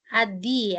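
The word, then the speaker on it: ADDIE: Yang berikutnya yaitu model ADDIY. ADI ya bacanya ya.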